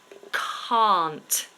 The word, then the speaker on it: can't: again is the word can't as in I cannot I can't it starts exactly the same as the word car I drive a car